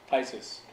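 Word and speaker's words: phthisis: उन्होंने लैटिन भाषा में इसको नाम दिया है थाइसिस, THISIS, PH साइलेंट है, थाइसिस।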